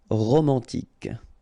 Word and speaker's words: romantique: Remember, Q-U-E at the end, K. Romantique.